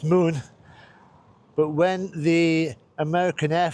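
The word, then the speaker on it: Mun: Now, it's spelled M U N, still pronounced moon.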